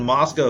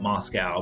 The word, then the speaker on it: Moscow: And the reason Moscow is significant and a lot of people call it Moscow, but it's not like it's not like Russia.